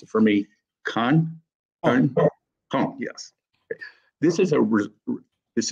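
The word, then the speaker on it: Caen: deposit at the Memorial Museum in now you pronounce it for me Khan yes this is a this is a um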